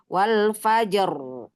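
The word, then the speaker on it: والفجر: fathah contohnya Wal Fajri Wal Fajr ya dibaca tebal wal faajr wal faajr karena dia waakaf Jadi dibacanya Wal faajr karena waqaf sebelumnya huruf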